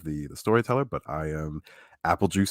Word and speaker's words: Aepelgeuse: But I am Aepelgeuse, spelled exactly like you see on your screen. It's Aepelgeuse spelled like Beetlejuice.